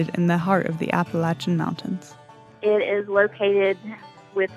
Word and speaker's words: Appalachia: I've never heard anyone from our area, from Appalachia, call it anything other than Appalachia. When I hear someone say Appalachia or Appalachia or however they pronounce it, to me, that signifies that person is not from the Appalachian region.